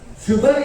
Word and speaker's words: sugar: Radhakrishnan, sugar is the only word in which S is pronounced as sure.